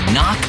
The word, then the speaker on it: knock: And a silent K is also the first letter in knock over.